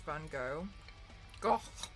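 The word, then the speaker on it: Van Gogh: God L I was trying to pronounce Van go go the Dutch way EA was helping me EA is Dutch but EA told me you have to say it like sound it sounds like you're choking or gagging I don't even want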